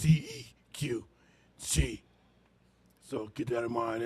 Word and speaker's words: Qi: It's spelled Qi, but it's pronounced CEQ, Chi.